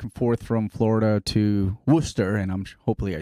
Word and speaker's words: Worcester: you moved back and forth from florida to worcester and i'm hopefully i say it right yeah worcester yeah i live yes downtown i lived in